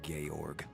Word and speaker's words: Georg: Copper Georg.